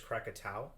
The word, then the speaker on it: Krakatau: pronunciation which is the quick uh the correct pronunciation of this volcano is krakatau and by the way the 1883 eruption of